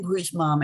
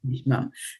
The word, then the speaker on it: bhīṣmam: Mataji, Why are you putting the emphasis on bhīṣmam. this? Yes, bhīṣmam. And the moment you say bhīṣmam, then you will have to drop the, and you were trying to sing in a particular meter, right? And so moment you start putting the wrong emphasis on the vowel, then you will never get the meter right.